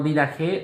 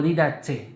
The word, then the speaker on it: Didache: Pero mejor conocido como Didache o Didache, dicen algunos, dependiendo de la pronunciación en griego.